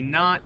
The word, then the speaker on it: knot: Except this knot is spelled K N O T. Again, notice the homophone. Notice the word not. sounds like not, but it's spelled N O T and means don't do something. And this knot sounds the same.